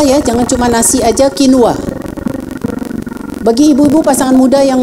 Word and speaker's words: quinoa: Nulisnya quinoa, tapi bacanya quinoa.